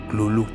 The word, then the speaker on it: Cthulhu: más tarde averigüé que la manera más correcta de pronunciarlo según Lovecraft sería gruñir, ladrar o toser las sílabas Cthulhu, aunque no podemos saber de verdad cómo se pronuncia.